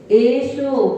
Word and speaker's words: एसो: एसो पंच, ऐसा नहीं, बिल्कुल नहीं, ऐसा हमने पढ़ा ही नहीं है। सभी लोग ऐसो पंचणों याद होंगे, जबकि हम ऐसो ही बोलते जा रहे, तो भी संस्कार होता बसा ऐसो पंच। ये बुंदेलखंडी भाषा में कैसो पंचण हो? एड़ी का ए है और सा है, तो एसो स्पष्ट है।